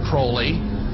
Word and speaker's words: Crowley: about was aliser Crawley he likes to bring have his name pronounced Crowley to rhyme with holy and uh the satanists